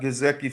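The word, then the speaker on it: Gesicki: to educate him and am I saying that right damn I'm gonna say yeah you're saying it right you saying it right Sean but um are we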